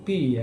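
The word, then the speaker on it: π: Nah P dibaca kalau Yunani itu Pi ya, Pi.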